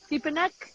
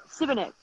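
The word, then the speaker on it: Šibenik: Oh, how do you pronounce the city? Sipanek? That's all right? Where we are? Sibenek.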